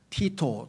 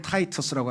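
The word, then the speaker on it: Titus: 그래서 그것을 진압하기 위해서 티토 또는 영어로 발음으로는 타이터스라고 하는데요.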